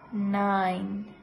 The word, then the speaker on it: nine: En el caso del 9, talking about number 9, la letra E es muda. The letter E is silent. Simplemente se pronuncia 9.